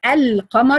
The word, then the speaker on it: القمر: We call it لام قمرية because if you say القمر you have to pronounce the لام.